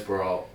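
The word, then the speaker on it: Barriault: how you would say his name it is baralt yep and you know he's been durable through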